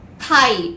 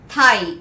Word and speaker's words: thigh: Next word, thigh, T-H-I-G-H, thigh. Thigh means part of human leg between hip and the knee. Thigh, T-H-I-G-H, where the G is silent.